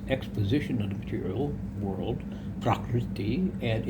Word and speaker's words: prakriti: Shankara elucidates that Vyasa's exposition of the material world, which is prakriti, is sometimes pronounced sort of like property. Prakriti is really, I believe, the exact pronunciation.